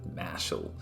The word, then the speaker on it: Mashle: months back this is i call it mashle because that's probably how you pronounce it in japanese but i know all the english peeps call it marshall so i'll try and